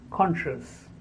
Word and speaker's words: conscious: year after sure conscious the correct pronunciation is conscious conscience there are many words